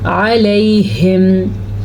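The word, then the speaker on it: عليهم: ہیں۔ علیہم، اچھا جی، عین کے تلفظ کا تو آپ نے دھیان رکھنا ہے۔ علیہم پڑھا تو یہ لفظ اور ہے، یہ بھی قرآن مجید میں آیا ہوا ہے۔ الیہم کا مطلب ہے ان کی طرف اور علیہم کا مطلب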